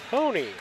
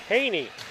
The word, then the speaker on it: Haney: Jason lewig assistant John Hony is that Haney Haney is how they pronounce that John Haney and let's